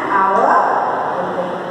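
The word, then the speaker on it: hour: H vowel है नो बट यहाँ H silent S आई एल ई एन टी एच यहाँ silent है इसीलिए एच के बाद कौन सा शब्द आते हैं कौन सा अक्षर है वो क्या है वो एक वॉवल है इसलिए एच को साइलेंट करके हम लोग एन आवर that is the correct way of pronouncing an आवर H remains silent उसी तरह यू में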